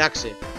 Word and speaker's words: axe: hacha en inglés dice axe y veo axe y no sé por qué bueno se dice AX no pero bueno se escribe axe y no sé por